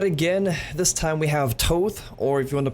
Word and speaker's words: Thoth: This time we have Thoth, or if you want to pronounce it Thoth.